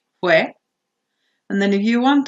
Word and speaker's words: fue: People tend to confuse these two, so careful how they're pronounced. Fui, fue.